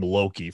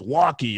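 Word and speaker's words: Lochie: I was calling him Loki forever. I mean, I don't know why, but I remember that people in the comments were like, his name is Lockie, like, right, you know, the pronunciation.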